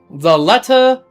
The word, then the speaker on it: Lethe: Okay, there's an ancient Greek pronunciation, and there is a modern Greek pronunciation.